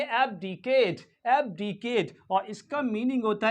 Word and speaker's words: abdicate: एबडीकेट एबडीकेट एबडीकेट एबडीकेट ये जो लास्ट वाला जो फाइनल ई है लास्ट वाला ई है ये क्या है साइलेंट है तो इसको क्या पढ़ेंगे इसे पेंगे एबडीकेट एबडीकेट और इसका मीनिंग